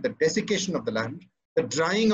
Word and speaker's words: desiccation: central it would be desiccation and yes it's spelled with two c's which i found out